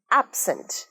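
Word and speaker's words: absent: অ্যাবসেন্ট। অ্যাবসেন্ট, অ্যাবসেন্ট বলবে না, অ্যাবের উপর প্রোনাউন্সিয়েশনটা বা স্ট্রেসটা বেশি হচ্ছে, অ্যাবসেন্ট, অ্যাবসেন্ট।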